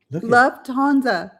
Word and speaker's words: Lufthansa: Where's the F? Lufthansa. Oh, there Wait, she does have a T in there. I can't see. I I got to like this. I've got to go tomorrow or the next day to go get my new I got to go get some glasses ordered. Oh my gosh. You have the same trouble saying that airline. Lufthansa.